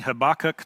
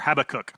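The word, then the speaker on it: Habakkuk: And Paul in this uh verse he's quoting Habachok 2:4 or Habacook 24 depending on how you pronounce it.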